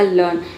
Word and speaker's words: learn: लर्न से समझते हैं। एल का हो गया ल। इ ए का हो गया अ और आर का हो गया। यहां पे आर जो है साइलेंट हो गया। ठीक है? एन को हम ना पढ़ेंगे। ये हो गया आपका लर्न। फिर आर को जो है आधा र आप पढ़ सकते हैं।